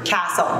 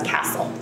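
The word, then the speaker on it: CASEL: what castle stands for castle castle is the collaborative of academic social and emotional learning so it's spelled c-a-s-e-l that's castle outstanding thank you thank you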